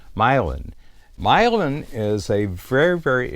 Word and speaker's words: Milan: called milin Ohio and milin is spelled like Milan Italy but it's called milin milin is a very